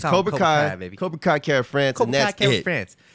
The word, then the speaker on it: Kai Kara France: Cobra Kai Kara France.